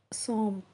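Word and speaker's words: सौंफ: SAUMPH சோம்ப்.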